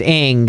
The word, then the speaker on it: Ng: so because her name if you spell it it's celeste ng and then celeste ng's twitter handle is pronounced ing and i was like